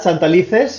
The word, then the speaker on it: Santalices: So we have Faustino Santalice. Not bad, Santalices, yes.